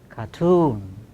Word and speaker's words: cartoon: Cartoon, career, occurs initially, but that part of the word does not carry stress. Stress is on the second syllable. So, only one condition is satisfied. So, we do not aspirate here.